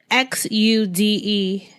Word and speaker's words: Xude: just tell people that it's xude yoga right x u d all right because i know i was saying it wrong in the beginning too so i want people to make sure there's if they're trying to type it they can find it all right zay last